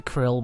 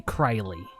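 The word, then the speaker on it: Krile: that gal named Crowley I know a lot of people pronounced a krill but she will always be Crowley thank you final fantasy 14 for telling me it's Crowley rather than krill yes she's a great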